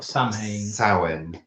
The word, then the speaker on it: Samhain: Well, do we celebrate Halloween or Samhain? Samhain. It says Samhain. Yeah, that's how you spell it, but it's not pronounced that way.